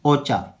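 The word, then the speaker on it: Ochoa: Next है अपना scientist ओचा, या प्रोनाउंसिएशन आप लोग ओचा या ओचे बोल सकते हो, ठीक है प्रोनाउंसिएशन।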